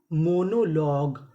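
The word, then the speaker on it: monologue: अब हमारा अगला नियम ये है कि अगर आपको इंग्लिश की मीनिंग के आखिरी में जी यू ई लिखा मिले तो हम लोग जी यू ई को ग पढ़ते हैं। क्या पढ़ते हैं? ग। जैसे एम ओ एन ओ मोनो एल ओ लॉ। अब यहां पे जी यू ई लिखा है तो इसे क्या पढ़ना है? ग।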